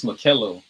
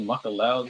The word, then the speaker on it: Makellow: It's Makello. That's how you pronounce it? it's Makello, bro. Bro, you been this Makello. whole entire time you've been allowing me to say Makellow, dude.